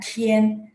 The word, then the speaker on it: 天: Tian dia kan pakai T, jadi bacanya Tian.